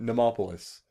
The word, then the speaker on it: Mnemopolis: like, I think they wanted I said I would never mispronounce it. Mnemopolis.